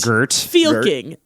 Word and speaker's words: Fylking: was guarded by Swedish radio and TV personality Gert Fylking. Okay. Oh, boy. All right. Do All right, you want to Gert. say that name again for me and spell it out? Gert, G-E-R-T, Gert Gert. Fylking, Fylking, Gert Fylking.